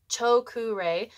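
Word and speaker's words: Choku Rei: and the first one choku Ray so r e i is pronounced re like a sunshine Ray or ray-bands chokure this is the power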